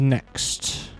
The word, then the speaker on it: Nyx: the Nyx system okay because NYX is next yes the small little